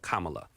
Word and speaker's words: Kamala: let's do that together Kama Kama like you know the punctuation mark K La that's real easy right Kamala um because it just